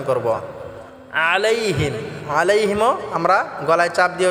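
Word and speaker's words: عليهم: হামজা দিয়ে করব এটা আমরা গলায় চাপ দিয়ে উচ্চারণ করব আলাইহিম আলাইহিম আমরা গলায় চাপ দিয়ে উচ্চারণ করব এবং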